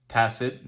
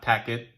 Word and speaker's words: tacit: So as I said, tacit, not tack it.